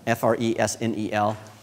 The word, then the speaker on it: fresnel: it it's spelled fresnel f-r-e-s-n-e-l but it's pronounced fresnel because it's french so uh it's the